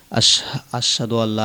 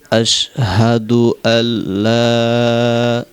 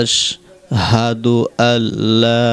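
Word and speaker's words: أشهد أن لا: জবর আল আরেকটা শব্দ আশহাদু আল হামজাগুলো উচ্চারণ করতে হবে যদি আশহাদু আল বলে তাহলে কিন্তু প্রথমে হামজা উচ্চারণ হয় না বলতে হবে আশহাদু আল্লাহ লাটা তিন আলিফ টান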